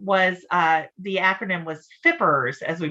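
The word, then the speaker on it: FPRRS: that funding um was uh the acronym was fippers as we pronounced it you may recall the fippers funding and unfortunately that did expire last year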